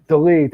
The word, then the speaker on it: Dolidze: How do you pronounce his name? Dolidze.